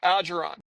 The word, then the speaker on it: Algeron: This is the pronunciation. Algeron.